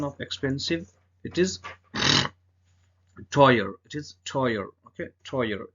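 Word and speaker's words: teuer: the car is D AO is expensive the pronunciation of expensive it is toyer it is toyer okay toyer toy means expensive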